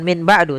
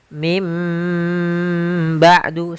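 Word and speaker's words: من بعد: Min ketemu dengan ba'du maka kita bacanya dengan bukan Min ba'du tapi mim ba'du sambil ditahan dengan gunahnya yaitu suara nunnya dirubah menjadi suara huruf mim jadi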